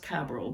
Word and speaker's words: Cabral: to this book by len cabral or it might be pronounced cabral but it's c-a-b-r-a-l len